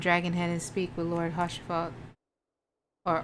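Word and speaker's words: Haurchefant: Anyways, we should make for Camp Dragonhead and speak with Lord Hoshifat or Arshifat. It's the H is silent, right?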